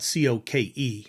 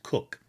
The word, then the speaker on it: Coke: Um, they were asked to make a hat for Edward Cook, uh, spelled C O K E. I know normally we pronounce it Coke, but it was pronounced Cook.